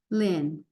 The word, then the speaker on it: Lien: This name, you don't really hear the E. Pretend it's spelled L-I-N, Lien.